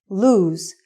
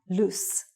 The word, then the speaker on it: lose: Also, the pronunciation is lose and not loose.